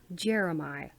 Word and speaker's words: Jeremih: It's by Jeremiah? Really? Jeremiah. Okay. It's spelled Jeremih.